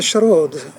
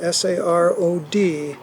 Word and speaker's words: sarod: And Dad played the sarod, S-A-R-O-D, and sometimes you hear it pronounced sarod, but as a Bengali, the S sound is pronounced as an SH, so I always learned it as sarod.